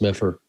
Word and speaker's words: Medford: uh where exactly where medford medford yeah medford um uh billy west used to say that medford gave its d's to sesame street because it's pronounced meffer i i lived